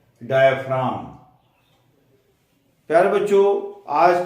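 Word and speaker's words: diaphragm: उसके बाद आता है डाय फ्रा यहां पर की साइलेंट होता है डाय फाम डाय फाम फम क्या होता है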